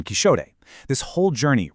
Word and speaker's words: Quixote: It's actually the exact same linguistic quirk that explains why Don Quixote was historically pronounced Don Quixote.